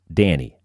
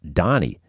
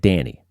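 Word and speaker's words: Dhani: George Harrison's kid is named Danny, D-H-A-N-I, pronounced Danny. You could go with something like that. I always assumed it was pronounced Donnie, but then I heard Paul McCartney say it, and he said Danny.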